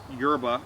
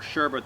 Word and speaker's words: yerba: mate last before you have to add more yerba or sherba to it. Yerba and sherba are names for the herb. It's spelled Y-E-R-B-A.